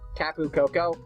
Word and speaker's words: Tapu Koko: I'm really excited for the new Pokemon, especially Tapu Koko. Oh, and yes, I am pronouncing that Pokemon's name correctly.